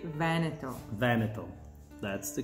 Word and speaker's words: Veneto: how do you pronounce veneto well the correct pronunciation is with an accent on the first e so it's veneto because if you make